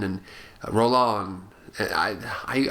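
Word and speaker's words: Rollin: horror filmmakers like Jean rolin and Rolan I I I always say his name rolin but I know I think it's Rolan I think you pronounce it I I've been mispronouncing him for years Jean rolon and Jess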